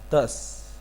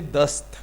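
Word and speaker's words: دس: You pronounce S sound in the end.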